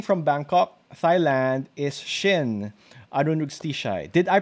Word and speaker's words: Arunrugstichai: So hailing from Bangkok, Thailand, is Shin Arunrugstichai. Did I pronounce that right, Shin? No, it's Arunrugstichai, but hardly anybody pronounced it right.